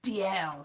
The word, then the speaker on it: Dalziel: DL of Wooler, Dalziel, DL, DALZIEL, DL, that's pronounced, of Wooler, windows in his tomb and lions on the door.